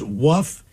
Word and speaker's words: Wuf: Wuff, W-U-F. Wuff, like woof.